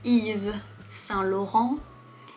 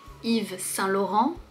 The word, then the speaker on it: Yves Saint-Laurent: On préfère Yves Saint-Laurent. Yves Saint-Laurent. Yves qui est le prénom, on ne prononce pas le S, Yves. Saint. Laurent.